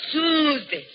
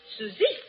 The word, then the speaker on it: Susie: No, no, not Suzy. Susie, you make it so it rhyme with flooy.